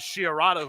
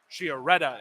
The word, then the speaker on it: Chiaretta: That was Chiarada who was looking for his second goal. Chiaretta, excuse me, not Chiarada. I'm still pronouncing his name wrong.